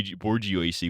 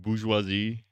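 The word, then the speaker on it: bourgeoisie: Borgio. What are you going to do about it? Was that how is it actually pronounced? Bourgeoisi.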